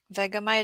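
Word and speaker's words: Vegemite: Vegamite is the pronunciation.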